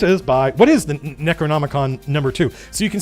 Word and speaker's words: Necronomicon: neck Pono neck what how do you pronounce necko n the neonomicon oh I bet that's an R I bet that's an r that where the leg didn't print so it's Necronomicon yeah yeah yeah that's an